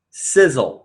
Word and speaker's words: Sisel: going to go over Sizzle it's pronounced like sizzling hot like a sizzling hot steak but it's an acronym